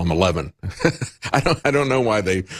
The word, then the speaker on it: Xi: like to call him xi I don't know why they they put his name out as X I and pronounce it she you know she is